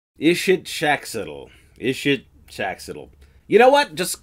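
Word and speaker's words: Ixitxachitl: The actual pronunciation? Erinnyes. Yeah, it's a Greek name of the Furies. Erinnyes. It's a mouthful. Ixitzaxtiddle. Ishitshaxtiddle.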